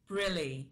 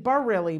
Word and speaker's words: Brilli: Brilli. Brilli. Okay, I was saying Barilli before, but it's Brilli.